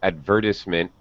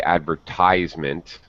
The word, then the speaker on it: advertisement: okay uh quick comment uh now helsio um pronounced this advertisement there's nothing wrong with that actually that's very british of you helsio um as an american i would say advertisement advertisement well that's very american okay um a brit would